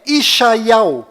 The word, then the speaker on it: ישעיהו: Bom, agora ficou bem claro que a verdadeira pronúncia do nome de Isaías em hebraico legítimo lá em Israel é Ishaiau.